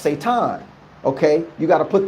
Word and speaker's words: Satan: all the enemy is Satan you're not even pronouncing the name right it was pronounced seitan okay you got to